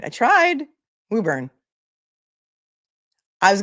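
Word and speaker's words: Woburn: I tried Wuburn. I was going to say Wurn. So Woourn. I said Woo. So, it's Wuburn.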